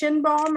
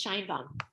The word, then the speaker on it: Scheinbaum: Lisa, is it pronounced Shinbaum or Scheinbaum? Lisa Hi, it's Shinebaum. Scheinbaum.